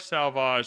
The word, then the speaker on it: Sauvage: Dior Sauvage. It was Dior. If you say it like that, you sound extra sexy. No accent. Just go in with like the awful Canadian American accent.